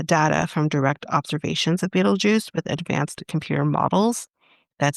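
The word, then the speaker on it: Betelgeuse: After combining uh data from direct observations of Beetlejuice with advanced computer models that simulate the stars activity, the team concluded that Beetle Buddy is by far the most likely explanation.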